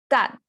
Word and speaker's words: 蛋: Okay, this one relatively easy to pronounce, right? Because it's saying you have English word dan, but I pronounce a little bit different, the vowel sound. It's 蛋, 蛋.